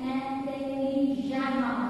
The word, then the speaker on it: intelligemment: On écrit le E, 2NENT, donc lit intelligemment. Enfin, intelligemment. Vous comprenez?